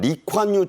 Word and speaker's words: 리콴유: 싱가포르에는 국부로 불리는 우리말로는 이광효, 그쪽 발음으로는 리콴유 총리 부자에 이어 새로운 총리 정부가 출범한 지 넉 달 정도 됐죠?